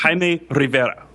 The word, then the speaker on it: Jaime Rivera: You need to roll your R's. Roll my R's like you do, Taylor? Can you give us a demonstration? Jaime Rivera.